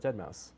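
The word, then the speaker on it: deadmau5: bone Iver or whatever dead mouse no I know but is it a crazy pronunciation why is it Mouse it's a five at the end well he's crazy so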